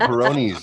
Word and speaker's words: Peyronie's: That's called Peronis. That's called Peronis when it bends to the left. Ferroni's like the beer.